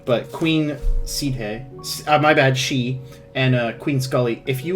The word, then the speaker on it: Seedhe: We have on our sheet Maedra Seedhe. It's pronounced she.